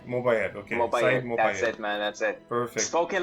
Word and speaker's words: Mobayed: joined with the lovely saeed mobile am i pronouncing your name right mobile mobile okay that's it perfect spoken like a true